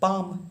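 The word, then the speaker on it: palm: डॉट ए मारा है, तो पी आ एम, पाम। पाम का स्पेलिंग क्या हो जाएगा, पी ए एल एम होता है, ठीक है।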